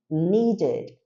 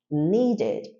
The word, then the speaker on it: needed: el termin com D Então a gente tem que falar esse e depois dele então pronunciamos needed needed reparem a diferença no